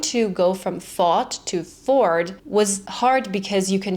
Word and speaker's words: Ford: The German R is actually pretty hard versus the American R is like a round R. An example of this is how I would pronounce the brand Ford differently depending on whether I'm speaking American English or German. When I speak American English, I say Ford, but when I'm speaking German, I say fought.